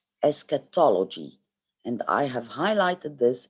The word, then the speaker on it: eschatology: Eschatology, this is how you pronounce it. eschatology, and I have highlighted this in yellow, meaning it's writing about the end of the world.